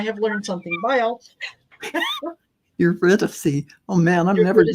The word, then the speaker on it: Eurydice: Aurora Starcy says, Eridice, which is what I said, is pronounced Eurydice. Eurydice.